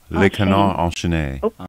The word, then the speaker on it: Le Canard Enchaîné: Le Canard Enchaîné.